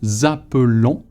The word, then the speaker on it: appelons: Nous appelons. You know the ending ONS, the S is silent, of course.